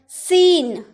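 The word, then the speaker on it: scene: तो जब भी आपके किसी वर्ड में एस के बाद अगर सी आए ना, तो आप सी का उच्चारण नहीं करिएगा, ठीक है।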